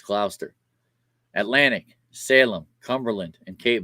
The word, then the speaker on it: Gloucester: South Jersey Burlington Camden Gloucester that's how you pronounce it not Glau Chester it's clauster Atlantic Salem Cumberland and Cape May so those